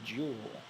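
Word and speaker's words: joule: unit is called The Jewel and it's abbreviated with a capital J if you're wondering how that's spelled it's j u l e which is not how you would expect uh but this is after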